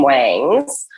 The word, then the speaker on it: Wangs: um hence the name wangs uh the way the South pronounces wings and it sounds like